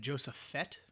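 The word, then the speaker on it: Josaphat: I think Joseph Fett like Baba Fett like Joseph Fett.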